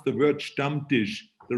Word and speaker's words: Stammtisch: a great introduction and you're absolutely right you pronounce the word stump dish the right way which a lot of people have a problem with that they say some diligence but it is a dumb dish that's exactly